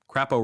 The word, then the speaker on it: Crapo: Crapo rhymes with crypto, right?